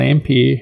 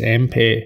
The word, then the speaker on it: Ampere: Based on Ampere architecture, and that's the correct way to pronounce it. It's not Ampere, it's Ampere.